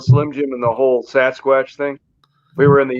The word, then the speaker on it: Sasquatch: of you next to sas watch i never heard that pronunciation i i can't let stuff go but it's definitely sasquatch sasquatch whatever nasquatch sasquatch t-shirts